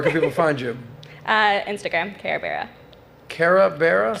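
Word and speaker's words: Karebearuh: Instagram, Kara Bera. Kara Bera? Spell it.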